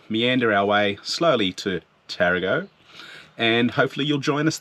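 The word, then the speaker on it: Tarago: loaded dog hotel in tarrago not toronto we've been corrected several times yeah the locals are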